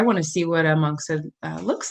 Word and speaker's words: monkshood: I was given two, is this monkshood? Am I saying it right? Monkshood.